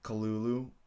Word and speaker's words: Cthulhu: actually a fun thing Lovecraft didn't pronounce it Cthulhu he actually uh pronounced it kalulu but I don't want to do that so I'm just gonna keep calling him Cthulhu uh he he he